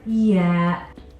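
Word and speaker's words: ي: Arabic alphabet the letter yeah the letter yeah makes a sound yeah yeah yeah which is similar to the sound or the letter Y in the English alphabet yeah now if you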